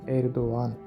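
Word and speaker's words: Erdoğan: নরম কোমল জিনিস এটি তুর্কি ভাষার শুরুতে ব্যবহৃত হয় না মাঝখানে ব্যবহার হয় আর এর উচ্চারণ হয় না যেমন ধরুন এরদোয়ান এরদোয়ান এখানে জি এর কোন উচ্চারণ নেই এটি একটি নাম এ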